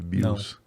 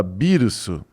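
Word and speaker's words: Beerus: Que na verdade é errado esse nome. Não sei se você sabe, Bills, porque tudo em Dragon Ball é relacionado a ou bebida ou alimentos, certo? Você vê que E se você perceber a no original se fala birso, que é tipo biru é cerveja.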